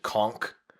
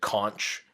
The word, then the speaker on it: conch: So we've got they find this shell, which some people pronounce it conch, and some people pronounce it conch.